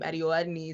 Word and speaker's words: Adeola Adeniyi: And so she said my name, Adeola Adeniyi, is how you pronounce it, but she said Adeola Adi whatever.